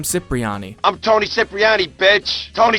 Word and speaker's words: Cipriani: He pronounces his name Cipriani. Nobody, I mean nobody, messes with Tony Cipriani.